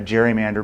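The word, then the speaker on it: gerrymander: like a salamander and a political cartoonist said oh it's a Gary Mander and now we call it a Jerry Mander because we can't remember that his name was actually pronounced Gary and uh that particular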